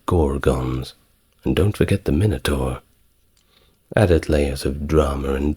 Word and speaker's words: Minotaur: and Theseus who defeated the Minotaur, or Minotaur, depending on how you want to pronounce it.